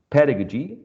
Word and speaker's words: pedagogy: that's where it is pedagogy has four syllables and the first one is uh the most prominent one as you can see here in this stroke which is showing that pet is the most uh prominent syllable of the four the next one is